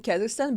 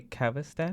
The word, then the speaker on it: Kazakhstan: in Kazakhstan, but I'm the citizen of Russia, Okay.